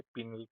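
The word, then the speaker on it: pineal: Endocrine glands में आपको मिलेंगे पीनल पाइनल ग्लैंड पाइनल या पीनल जैसा आप प्रोनाउंस करना चाहे।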